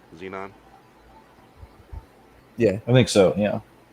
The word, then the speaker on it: xenon: what it is folks what is the x pronounced with the z xenon yeah i think so